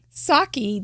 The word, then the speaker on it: sake: Sake doesn't rhyme with ache, but it is spelled like it is. But it doesn't really rhyme with it when you say it.